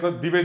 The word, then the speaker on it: दिवे: हाँ, मश्नवत्, रयि मश्नवत्, पोषमेव दिवे, दिवे, दिवे, दिवे भी फटा नहीं करना, दिवे, दिवे, दिवे, दिवे। ये अंतर महसूस करना है बोलने में ना, कि तो है क्या क्या गलत हो, दीवे, ये भी गलत है।